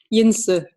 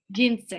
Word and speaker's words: Jens: How do you say your name, first of all? Jinse. Jinse.